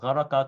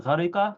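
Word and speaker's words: ghariqa: It wouldn't help because you might say, "Oh, gharaka kafaraha," but he's saying "gharika kafariha." So if you know how to pronounce fariha with a kasra on the middle letter, then you automatically know how to pronounce gharika, and that's how these classical dictionaries operate.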